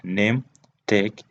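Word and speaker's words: Nahmtech: the pronunciation is named like name take but uh when you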